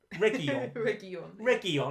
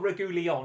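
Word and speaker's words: Reguilón: say this guy's name are we saying regul reggie on okay not regular as i said at the beginning has come into the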